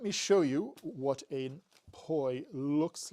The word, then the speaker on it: poi: and it's spelled p-o-i so it sounds like it sounds like koi like the fish or koi as in bean koi but it's spelled p-o-i and it's poi is what they are